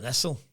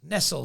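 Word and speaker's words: Nestlé: going to call him Nestle I'm going to give them the uh because there's no Accent on the E there so they're not getting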